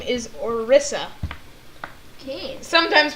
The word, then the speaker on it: Orisa: Her actual name is Orisa. Okay. Sometimes pronounced Orisa, but...